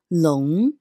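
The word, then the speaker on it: 龙: my dragon say hi dragon in Chinese is long long be careful that the pinky looks like long in English but make sure to pronounce it the Chinese way which is long number six how to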